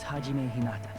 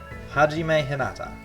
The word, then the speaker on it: Hajime Hinata: My name is Hajime Hinata. You're not as easy to pronounce as Makoto. Hajime Hinata.